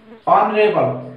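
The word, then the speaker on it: honourable: हो रहा है हमारा ऑनेस्ट से, एच इसमें साइलेंट है, ठीक है। ऑनरेबल, ऑनरेबल एच एच से स्टार्ट हो रहा है,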